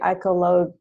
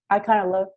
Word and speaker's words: Iconologia: There was this guy, you probably know, Cesare Ripa, who wrote the, I don't know how to say it, Iconologia. Yeah. Say it again. Iconologia.